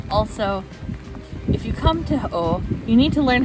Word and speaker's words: Å: if you come to O you need to learn how to properly pronounce it a with a circle above it is pronounced like the letter o o not a you're